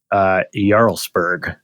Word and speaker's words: Jarlsberg: Cheese is something called it's Norwegian, so I know I'm not going to pronounce it the way that it's supposed to be pronounced. So I'm going to go with Jarlsberg. Jarlsberg. Jarlsberg. Yeah, I know that one. So you said it right.